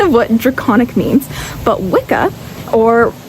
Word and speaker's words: wicca: But wikah or witchah is how it's originally pronounced. W I CCA is a old English word um old Anglo-Saxon word that is pronounced witchah which means a male sorcerer or someone who bends